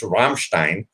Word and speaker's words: Rammstein: that's fine you can look ignorant but it's Rammstein and I understand okay she said it better